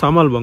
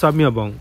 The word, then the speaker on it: Samabeong: আমি প্রথমে জায়গাটার নাম উচ্চারণ করেছিলাম সামালবং, বাট ইটস নট সামালবং, ইটস সামিয়াবং। এল শব্দটাই মানে ওয়ার্ডটাই নেই।